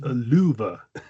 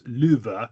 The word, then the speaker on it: Lufu: No, it's pronounced luva. Lufu. The F is pronounced like a V. The first U is pronounced long. The second U is pronounced short. So it's luva, which is pretty close to love, I think, really.